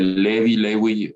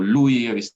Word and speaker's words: Lewy: por por cuerpos de lewy o louis que se pronuncian así diversos autores demencias frontotemporales enfermedad